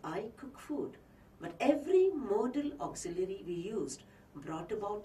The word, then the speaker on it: modal: these auxiliaries are called mortal auxiliaries note the pronunciation modal auxiliaries not model auxiliaries not modal auxiliaries it's actually coming to